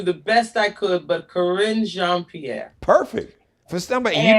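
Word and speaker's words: Karine Jean-Pierre: want to say congratulations to, I think it's Corinne Jean-Pierre. I want to say it. You got it. You got it right. My French is not. Corinne Jean-Pierre.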